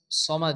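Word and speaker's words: صمد: আসছে সদ জবর স হবে সা অনেকে আছে সামাদ পড়ে সামাদ পড়া যাবে না কারণ আমরা জানি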